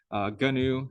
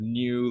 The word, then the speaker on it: GNU: The cool way of pronouncing this is pronouncing it with a hard G out in front. GNU instead of new, like the animal, it's GNU.